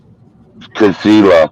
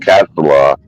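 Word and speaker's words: Kasilof: I'm not even going to try and pronounce it. Cast it. Either Casilla. Casilla. That's right. Someone will correct this. Casilla, not Castleoff.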